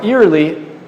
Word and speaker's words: early: Não early. Se escreve como ear, mas é early.